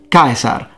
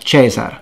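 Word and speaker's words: Caesar: pronounced like a k so it's kikero not chichero kaisar not cesar canturio not centurio you get the point well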